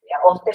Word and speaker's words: Auster: tu nombre no eh Ah oster se escribe auster eh Hasta que hasta